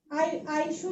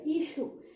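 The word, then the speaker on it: issue: আইস্যু না তো, এটা ইস্যু।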